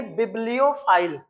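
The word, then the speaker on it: bibliophile: यानी बिबलियो file. और बिबियो की स्पेलिंग भी लिखना।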